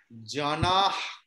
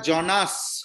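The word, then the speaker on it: जनाः: good আর একটা ছোট correction করে দেব হ্যাঁ বলুন আমি তো শিখতেই এসেছি জানাহ বিসর্গর উচ্চারণ দন্তেশ্বয়ের মতো হবে তার কারণ বিসর্গর পরে দন্তেশ্ব আছে তাই জন্য সেটা জনাস হবে হ্যাঁ না আমি নিয়মটা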